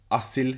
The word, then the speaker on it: Asil: i go by as my full name is asil it's a turkish name but trying to get english people to call me asil and pronounce it correctly a very long time